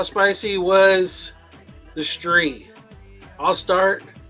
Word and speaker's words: Stree: how spicy was the street I'll start Stree rhymes with three was horribly spicy